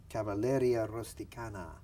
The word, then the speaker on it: Cavalleria rusticana: like really really nice yeah inter missile from Cavalleria rusticana yeah tell us a little bit about that did I pronounce that right yes I think that's the